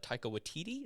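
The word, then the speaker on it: Taika Waititi: love it it's from the mind of uh taika watiti is how you say his name taika he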